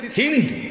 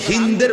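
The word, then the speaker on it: هند: আবু সুফিয়ানের স্ত্রী হিন্দ বিনতে উতবা। যারে বাংলায় উচ্চারণে হিন্দা বলে। হিন্দা বলে হিন্দ মূলত তার নাম আকারটা নাই আর কি হিন্দ এই হিন্দ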